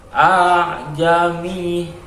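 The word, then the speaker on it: أأعجمي: Kemudian pada lafaz a'jami, di situ ada tanda tashil, yaitu tanda tersebut adalah apabila ada dua hamzah, yang mana cara membacanya adalah hamzah pertama itu jelas, sedangkan yang kedua itu disamarkan. Cara membacanya kurang lebih demikian. Jami, jadi bukan jami.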